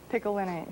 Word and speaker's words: picolinate: I know you coached me on this word, but I'm sure I'll mess up the pronunciation. Chromium picolinate? Picolinate.